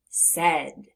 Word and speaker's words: said: Now, if we look in the middle of the word, we see an A and an I, but we hear the sound e, e.